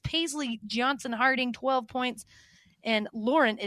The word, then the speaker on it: Lauren: And Lauren, she does pronounce it Lauren, am I correct? Mm-hmm. Not Lauren, Lauren. One of those.